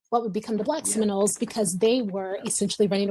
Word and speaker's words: Seminole: or Muskogee word, and it's pronounced Shimonoli or Seminole.